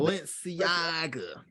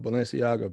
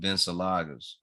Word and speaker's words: Balenciaga: Nigga bought some Balenciaga beach shoes and was like flexing on it. He couldn't even pronounce it. Couldn't even pronounce it. He was calling them Bensalagas.